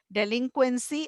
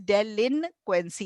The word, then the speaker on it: delinquency: डेलिंक्वेंसी, अब इसके स्पेलिंग देख लो, इट इज डेलिनक्वेंसी, ये एन है बीच में, ये बच्चे एन भूल जाते हैं, डेलिक्वेंसी बोलते हैं. डेलिक्वेंसी बोलते नहीं, हैं. डेलिक्वेंसी गलत है, डेलिनक्वेंसी.